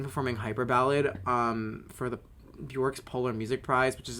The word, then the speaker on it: Björk: BJÖRK. That's how you properly say her name. I went to Iceland, guys. It's BJÖRK. That's what the two dots for the over the O.